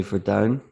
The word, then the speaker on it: Verduin: Your last name, I think, is Dutch, so I'll say Verduin.